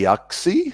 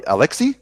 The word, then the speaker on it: Aleksey: for my podcasts early oxi sorry Aleksey like Leslie sorry about my pronunciation